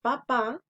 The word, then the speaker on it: papá: Y en la palabra papá es en la última.